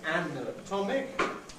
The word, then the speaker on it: anatomic: anatom each time, but when we've got the stress on the first and third of the stem, we say anatomic, op, but with in the middle where the stress doesn't fall, anatomic.